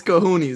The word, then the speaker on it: cojones: you have big balls is it cojones or is it kahunes no it's it's it's kahunes that's how i that's